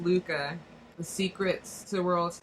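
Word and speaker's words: Lykke: It's pronounced Luca.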